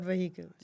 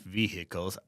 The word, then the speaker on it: vehicles: And you know a lot about vehicles. Not vehicles, it's vehicles. Sorry. You just don't pronounce the H Okay.